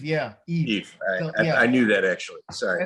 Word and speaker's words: Yves: So they try to pronounce it. Yves. It's Yves Edwards. It's just Yves. Yeah. Yves.